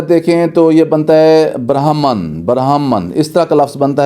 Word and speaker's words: Brahman: ہے، نہیں، یہ امریکہ کی ہے۔ اس کے سپیلنگ جو ہیں وہ ہیں BRAHMAN، تو یہ اگر دیکھیں تو یہ بنتا ہے برہمن، اس طرح کا لفظ بنتا ہے، ریڈ برہمن